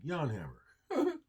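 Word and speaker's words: Jan Hammer: say his name right I'm saying Yan and hammer like a Yank Yan, excuse me, Yan Hammer.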